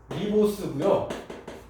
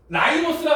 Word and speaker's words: 리보스: 개수로 보면 그때 요 당 이름이 얘는 디옥시 리보스고요. 얘는 그냥 리보스예요. 당이 디옥시 리보스, 얘는 그냥 라이보스라 그러는데 리보스나 라이보스나 발음의 차이예요.